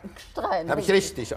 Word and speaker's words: Gstrein: Wir kommen jetzt zu einem Österreicher, Norbert heißt er, glaube ich, mit Vornamen, Gstrein. Gstrein. Habe ich richtig ausgesprochen.